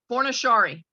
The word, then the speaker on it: Fornaciari: you pronounce your last name how do I pronounce it forna Shari thank you people try to make it more